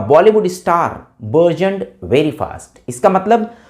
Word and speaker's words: burgeon: This is called version, BURGEON। Version means version, right. Version, रा को हम pronounce नहीं कर रहे हैं यहाँ पे, बर्जन।